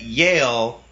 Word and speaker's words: Yale: people because they know that Yale rhymes with jail so they know what